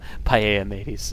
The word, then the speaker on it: Palamedes: But yeah, paella mateys.